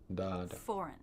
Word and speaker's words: foreign: the first syllable forward foreign so we have to make sure our first syllable is long and the second syllable is short it begins with the